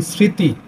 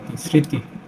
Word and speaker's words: স্মৃতি: ফলার উচ্চারণ হয় না শব্দের শুরুতে ম ফলার উচ্চারণ হয় না উদাহরণস্বরূপ যদি আমরা লিখি স্মৃতিস ময় সংযুক্ত ঋকার তৃষিকার স্মৃতি এখন এটার উচ্চারণ হলে